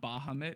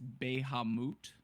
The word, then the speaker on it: Bahamut: in D and E it's not Bahamut it's baihe moot so we've all been saying it wrong but I will never